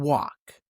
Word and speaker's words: walk: As in half, H-A-L-F, talk, T-A-L-K, and walk. Walk, talk, and half all have an L that you do not hear.